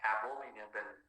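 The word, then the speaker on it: abominable: অ্যাবোমিনেবল, উচ্চারণটা হচ্ছে অ্যাবোমিনেবল, অ্যাবোমিনেবল।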